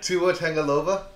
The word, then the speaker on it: Tua Tagovailoa: Tua Tagovailoa.